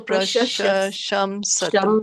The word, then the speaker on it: प्रशंसतु: Yeah, so Prashasham Satu.